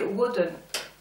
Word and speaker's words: Woden: Mercure, qui en fait on dit Woden. Prononcé avec un anglais, parce qu'en allemand je sais pas comment on dit.